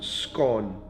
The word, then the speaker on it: scone: How do you pronounce scone? Rhymes with bone or rhymes with gone? Scone, gone for me.